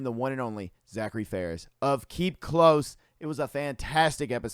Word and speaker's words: Farris: it on Tennessee and Tennessee education uh Zachary Ferris correct yeah dude like Ferris Muer yes I